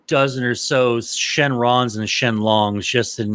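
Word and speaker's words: Shenlong: Shenron or uh yeah Shenron or Shen long then long is the correct Japanese pronunciation however I'd go with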